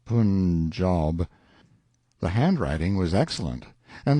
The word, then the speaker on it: Punjab: letter one day from the Punjab you must pronounce it punjob the handwriting was excellent